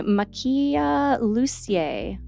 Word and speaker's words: Makiia Lucier: is dragon fruit by Makia lucier I think is how you pronounce it this one pretty